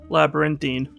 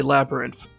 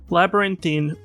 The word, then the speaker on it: Labyrinthine: 9 letters or so, I instead want to say Labyrinth. But that is not how it's actually pronounced, much to what I'm sure will be many other people's eventual confusion, not merely my own.